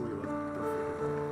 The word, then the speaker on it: Lila: end of chapter eight Layla or Leela take it back they they sound the same name it's pronounced Leela what you say the